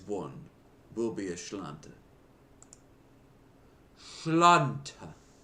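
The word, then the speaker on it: Sláinte: Schlanta. That's how you say it. You say a Schlanta.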